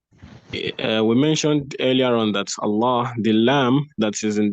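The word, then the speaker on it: الله: We mentioned earlier on that Allah, the lam that is in this word, is sometimes pronounced heavily, la, la, la, and sometimes pronounced lightly, la, la, la.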